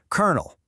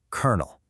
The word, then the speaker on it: colonel: You look at it, you see an L, an O, another L, but you say kernel. Yep, just like a kernel of corn.